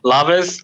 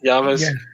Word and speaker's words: llaves: You're gonna have to correct me on this because Casey knows how to pronounce this word properly. Laves, the style. Yeah, it started very Yaves.